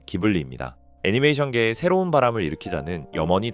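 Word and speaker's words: Ghibli: 바람계곡의 나오시카의 성공을 바탕으로 스튜디오 지브리를 설립했습니다. 지브리는 스타막의 바람이라는 뜻에 이탈리아어로 원래 발음은 기블리입니다.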